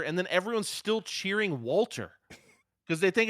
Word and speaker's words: Walter: versus l.a knight uh because that's how you pronounce it in uh german and he's from austria so everyone calls him valtter um but it's his name it's walter like it looks like walter if you look